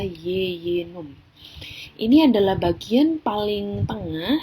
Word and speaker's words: jejunum: kedua adalah Yeyen Um meskipun tulisannya jejunum tapi kita Bacanya adalah Yeyen Um ini adalah bagian paling